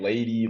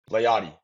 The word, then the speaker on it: Layadi: It's usually I get lady, Layadi, like it's whatever, bro. You got what good. is the proper one? Layadi.